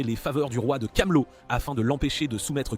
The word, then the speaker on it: Camelot: faveurs du roi de Camelot afin de l'empêcher de soumettre quiconque à des expériences similaires aux siennes. Sin salue sa résolution, mais lui précise que ça se prononce Camelot et non Camille.